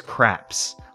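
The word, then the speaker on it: Krawps: so say crop oh it's it's craps like the the dice game so we can come in here we can play craps but it's spelled like crock because crock is a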